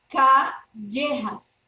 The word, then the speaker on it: Callejas: Tell me if I'm pronouncing this correctly. Christina Callejas Campo. Am I right? Callejas.